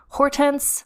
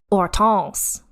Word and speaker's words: Hortense: When you see it written out, it looks like Hortense Mancini. But in fact, it is pronounced Hortense, because that is a French name.